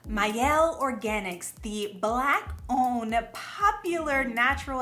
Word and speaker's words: Mielle: no it's actually may mayel as in my L mayel Organics myel Organics